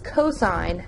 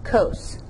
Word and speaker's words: cos: a being your angle even though you see just cos it is cosine not cos tangent is t a